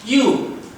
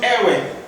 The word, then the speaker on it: ewe: This is a female sheep whose proper pronunciation is you. It sounds you, like that. It is not ewe or iwi. It is you.